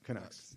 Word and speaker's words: Canucks: Yeah, the how you pronounce it, the Canucks. Kucks. Canucks.